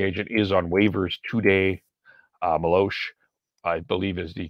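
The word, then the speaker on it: Meloche: Maloche, I believe, is the correct pronunciation.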